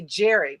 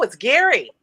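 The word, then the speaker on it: Gerry: r y which makes me want to say Jerry but okay yeah okay no it's Gary it's Gary I it's Gary but it's pronounced when I read it I go like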